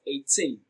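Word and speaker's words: eighteen: 18 is pronounced and broken down into syllables as 18. 18. Tin receives the stress. It is pronounced louder and longer.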